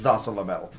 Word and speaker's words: Zasalamel: I had a hard time pronouncing his name as a kid. It's Zasalamel.